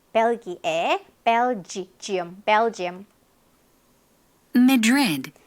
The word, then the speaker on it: Madrid: Madrid. 요거 강세가 뒤에 있어요. 그래서 앞이 성이 없어. Madrid. Madrid. read만 잘 발음하면 돼요.